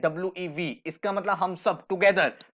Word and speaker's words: Vi: और इस वी को अगर आप देखोगे स्पेलिंग है वी आई, बट हम इसे प्रोनाउंस करते हैं WEV, इसका मतलब हम सब टुगेदर।